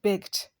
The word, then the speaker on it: begged: to pay attention to whenever a regular verb ends with a voice letter the Ed that reflects past things will be pronounced as the examples are beg beg ends with g which is a voice consonant so when you want to pronounce the past tense we going to say begged stab ends with b a